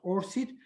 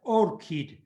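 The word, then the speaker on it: ORCID: on that platform so or kit it's pronounced or sit but should now we should read it as orchid because orchid is a flower and it's easier to memorize so orchid is a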